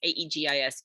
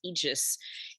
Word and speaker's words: Aegis: afraid of something called the Aegis I pronounced it a little bit funny in my podcast my apologies I had to actually look up how to pronounce this Aegis Aegis Aegis was um some kind